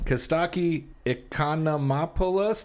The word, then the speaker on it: Costaki Economopoulos: Costaki Economopoulos.